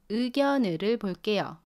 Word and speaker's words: 의: ‘의’ should be pronounced as [의]. When ‘의’ is located at the beginning of the word, you have to pronounce [의]. Do not pronounce it as [이] or [에]. You should pronounce it as [의] [의] Let’s look at the